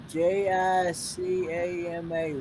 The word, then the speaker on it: jicama: look on your face have i had yeah j-i-c-a-m-a what in the world is that i have